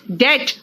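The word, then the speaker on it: debt: नॉट डेप्ट इट इज डेट इट इज डेट एंड इट इज नॉट डेप्ट इट इज डेटर कर्जदार जो होता है उसको डेटर कहते हैं कर्ज को डेट कहते हैं एंड डाउट है देखो ब साइलेंट है राइट आ जाओ नेक्स्ट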